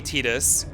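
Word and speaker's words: Tidus: Is it Titus or Titus? Yeah. So, the Japanese was definitely Tetus, but also as of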